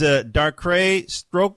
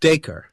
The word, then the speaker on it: Dacre: great-grandnephew, which is, now, correct me if I get his name wrong, is Darkrai Stoker? I think it's pronounced Dacre.